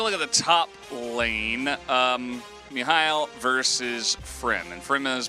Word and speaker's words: Mihail: It is pronounced Mihail, but it just isn't how you would pronounce this in like Hangler if it was written out, so like it throws me for a loop, but it's Mihail, so.